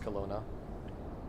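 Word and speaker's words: Kelowna: Was that immediately obvious to you that it would be pronounced Colona?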